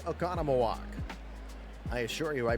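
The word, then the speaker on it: Oconomowoc: The 31-year-old from Economaw, Wisconsin. Yes, I can say Okonamaw. I assure you I butchered it terribly in the first days of Dylan's major league career.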